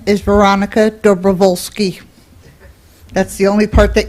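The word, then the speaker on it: Dobrowolski: always welcome public input my name is Veronica dooli that's the only part that you won like oh okay you can spell that okay then you then you can start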